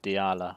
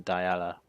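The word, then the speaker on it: Dialla: strike no love oh I just heard a woman say her name for the first time and it's promised Diala so after all these years of me calling Diana that's wrong Diala going here multiple totems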